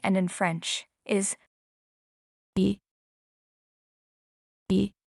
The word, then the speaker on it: et: To say and in French is Et. Et. the letter t at the end is not pronounced.